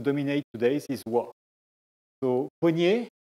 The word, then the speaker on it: poignet: So poignet. Now everybody says poignet, but the old way to pronounce it was poignet, like a monion, like etc.